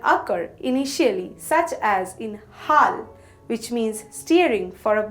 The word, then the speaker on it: হ: The first letter of this set we have here is ha. The pronunciation of ha is similar to the ha of hot in English.